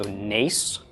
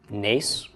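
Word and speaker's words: נס: This would be pronounced the N of the nun, A of the tsera, and the S of the samech. So nes, nes.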